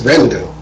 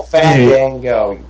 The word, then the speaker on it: Fandango: It's like everybody getting on me for saying Vandigo's name wrong. Who's Vandigo? What? Who? Vandigo. Who's that? He wrestled Chris Jericho. Is it a vampire or something? His Strike name- Oh, Fandango.